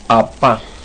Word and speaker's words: apa: El hombro, perdón, el brazo se dice apa. Apa. Apa. No se olvide que la P no suena como un P en español, sino es apua.